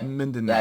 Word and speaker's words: Mindanao: Yeah, Mindanao.